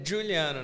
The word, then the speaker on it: Giuliano: Eu tô aqui com o Juliano. Falei certo? É isso mesmo. Certinho? É Juliano, na verdade. Fala de novo. Juliano. Juliano Eriston. Isso. O Eriston não tem pronúncia, né?